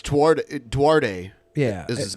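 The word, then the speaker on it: Duterte: It's Duarte. Yeah. Is his name. It's pronounced Filipinas, Ben.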